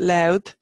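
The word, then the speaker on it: Lú: and it seemed that we've talked about it loud is Lou and it comes from named after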